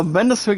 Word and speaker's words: Mindustry: Now Mindustry guys is pronounced m i n d u s t r y.